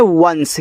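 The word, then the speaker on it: once: देखो यहां पे लिखा हुआ है ओ एन सी ई तो इसको पढ़ते हैं वंश।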